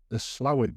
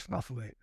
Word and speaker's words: Slaithwaite: The Slowett band, Slaithwaite it's spelled, I believe, but everybody now calls it Slowett. Younger then call it Slathwaite.